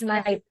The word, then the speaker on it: night: Last night. Ya, last night ya. Jadi GH-nya nggak dibaca ya, Suka Kak lupa.